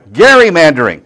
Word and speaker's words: gerrymandering: It's gerrymandering. Gerrymandering. Okay, well that helps. Not Jerry, Gary, Okay. Gary, gerrymandering.